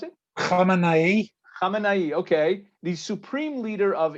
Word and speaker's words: Khamenei: How do you pronounce it? Khamenei, okay.